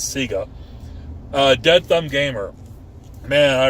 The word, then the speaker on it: Sega: Apparently that's how they pronounce Sega down in Australia and New Zealand, is Sega. But it's Sega of my house to me, but apparently I'm wrong. It's Sega.